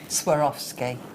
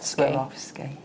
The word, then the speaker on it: Swarovski: show-offs let's say it Swarovski Swarovski that's what swear off Swarovski Swarovski that thing I